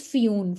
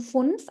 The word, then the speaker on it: fünf: this and it becomes fiunf. So there is a difference between funf and fiunf.